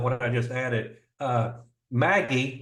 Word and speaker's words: MAGI: I just added uh Maggie or around Christmas time I pronounced this Magi right but M AI modified adjusted gross income